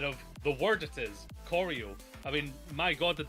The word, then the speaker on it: choreo: Apparently, choreo is the pronunciation because that is a word, choreography. My fat ass, I'll just say, saw Oreo and just went with that one. I was like, yeah, Oreo with a ch, obviously, instead of the word it is, choreo.